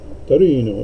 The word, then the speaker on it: Torino: You got to say it like you're Italian. So I bought these in Torino, Italy.